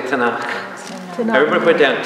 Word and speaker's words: Tanakh: T and K, this is how to say the Jewish Bible. Tanakh, everybody say Tanakh.